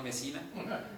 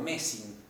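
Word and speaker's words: Mersin: No Mesina, sino o Mesín.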